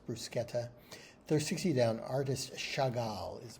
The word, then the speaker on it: bruschetta: Brusquetta or bruschetta. if you prefer. That's probably the way I'd say it. Not wanting to appear pretentious, but it is in Italian. It is pronounced brusqueta.